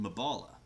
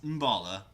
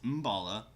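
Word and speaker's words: Mbala: a spark spot marked on your map called mavala and it's pronounced in balla I keep calling wrong it's Bala yeah everyone makes it you know a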